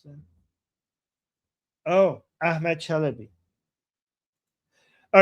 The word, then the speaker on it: Chalabi: Oh, Chelaby who betrayed the US is a reason many Americans are gunshy. Wait, did you mispronounce them? Oh, Ahmed Chalabi.